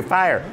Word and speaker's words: fire: If there's any kind of break, it's two syllables. You try it. Fire. And that, no, you have to make the R sound, and that makes it a second syllable.